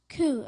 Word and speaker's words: coup: Coup. Am I pronouncing it correctly?